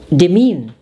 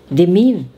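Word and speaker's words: demesne: cancer cancer next is dimin the mean drop the s it means estate the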